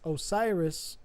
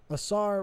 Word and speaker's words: Asar: The Story begins when Osiris or I was going to say correctly Asar reigned on Earth and